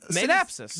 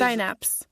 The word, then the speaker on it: synapse: Sinapse. Not synapsis.